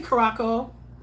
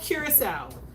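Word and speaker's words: Curaçao: Please say it right. Don't say Curacao. It's called Curacao.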